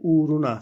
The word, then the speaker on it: uğruna: kullanmamaya çalışıyoruz arkadaşlar ua ama tabii uğruna şeklinde okuyoruz uğruna uğruna na derken o